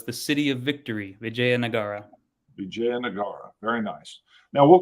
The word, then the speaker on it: Vijayanagara: is very clear um you said it's pronounced just like it's written and it actually stands for so vijaya means victory and nagara means city so it's the city of victory vijaya nagara vijayanagara very nice now